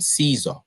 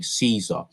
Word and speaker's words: Caesar: latter phenomenon can be witnessed, for example, in the rapid adoption of the original Latin cognomen Caesar.